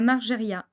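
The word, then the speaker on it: Margériaz: semnose aillon et la margeria attention on ne prononce jamais le Z pour ne citer que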